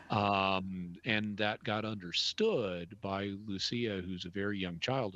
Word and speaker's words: Lucia: I think people say Lucia, and I said Lucia, and I think it's because they have this new character, Luce. It's actually because in Portuguese, the C is pronounced as an S, not a CH.